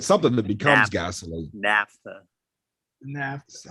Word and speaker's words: naphtha: Naphtha. Naphtha. How do you spell it?